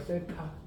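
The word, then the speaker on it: θ: 얘는 세타라고 읽어요. 세타.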